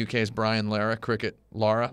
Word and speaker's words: Lara: Brian Lehrer cricket Lara Lara Lara Lara not Laura have you ever heard somebody pronounce the name Lara Croft is Laura Croft yeah I hate that yeah it's annoying watch the movie it's not Laura also the word yeah